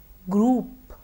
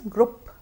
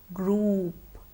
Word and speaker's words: group: Group, group. This word is often mispronounced as group. Let's remember to use the long sound oo. Group.